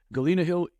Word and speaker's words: Galena Hill: Is that how you pronounce it? Galena Hill, yes.